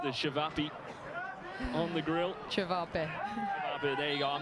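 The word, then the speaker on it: ćevapi: Chavape.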